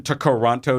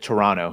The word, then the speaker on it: Toronto: me chado pronounces it Toronto he's he's the that second T he says is silent and he's from Toronto Toronto I would say Toronto but he says Toronto